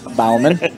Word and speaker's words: Balman: would be Balman Balman make no mistake on the pronunciation Balman correct by the way tomorrow I'm going to mess that up again just so you know just just put it on record going to be Bowman Again by the time